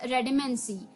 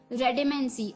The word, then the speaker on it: redamancy: तो चलिए, the 9th word for the evening was रेडेमेंसी। रेडेमेंसी, REDAMANCY, रेडेमेंसी, यानी कि दोस्तों हिंदी डिक्शनरी गूगल में इसका कोई वर्ड नहीं दे रखा, तो आपके पास है तो बताइएगा जरूर।